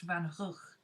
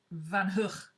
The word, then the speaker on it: Van Gogh: Because she said the nearest English word to it is ugh. So if you combine hook and ugh, you get Van Gogh. This is why English say Van Gogh.